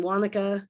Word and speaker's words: Wanaka: of the policyholder bar wanaka rhymes with harmonica also volunteered uh